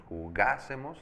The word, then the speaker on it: jugásemos: Y con las otras sería yo jugase, tú jugases, él jugase, nosotros jugásemos, acento en la A, ustedes jugasen, ellos jugasen.